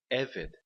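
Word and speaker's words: עבד: A palavra eved. Eved significa servo. De novo, o acento na primeira sílaba e 2 segolos.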